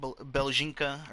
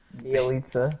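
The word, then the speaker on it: Bjelica: I mean, do you really want Beljinka, or however you pronounce his name? Bielitsa. Bielitsa? Dude, that is so weird. It's so weird sounding. It sounds nothing like how it's spelled.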